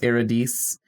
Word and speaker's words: Eurydice: death incarnate and takes his wife eurydice or in this film that's pronounced eredes and drags her to